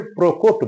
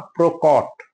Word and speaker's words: প্রকট: প্রকট, আমরা ভুল করে প্রকট বলি, প্রকট না প্রকট, প্রকট।